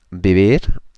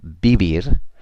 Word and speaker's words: vivir: Vivir. The V's are pronounced like a B, remember? Vivir.